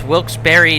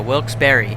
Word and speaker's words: Wilkes-Barre: By the way, it's Wilkes-Barre, not Wilkes-Barre, Pennsylvania. Wilkes-Barre. I learned that from the locals at a bar in Wilkes-Barre at an overnight, so it's Wilkes-Barre.